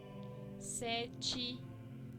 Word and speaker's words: sete: Si ustedes perciben, ninguna de estas palabras tiene acento y la E final siempre se cambia a una I en el sonido y no en la escritura.